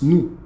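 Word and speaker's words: nous: They say N, but it's new because the S is silent.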